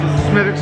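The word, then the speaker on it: Smithwick's: i had this medics i pronounced this mix because a person in ireland that's the way they pronounce it to me so it's spelled smith wicks somebody let me know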